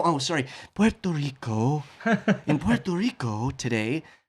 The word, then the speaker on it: Puerto Rico: And he would say Puerto Rico or in Puerto Rico, and then he'd go, no, they've told me the real pronunciation is Puerto Rico.